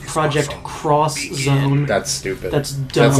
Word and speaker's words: Project X Zone: Project X Zone, and that's how it's spelled with an X. Yeah. It's actually pronounced Project Cross Zone.